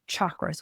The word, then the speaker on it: chakras: And it's pronounced chakras with a cha.